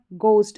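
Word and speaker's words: ghost: GH इसको घ for silent भी रहता है, जैसे यहाँ पर पढ़ा गोस्ट। अब इसमें देखिए इसको है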